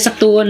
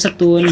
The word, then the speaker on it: Satun: setun itu banyak benar namanya tulisann mah satun cuma kita bacanya setun orang sana bilangnya setun H tapi enggak ada yang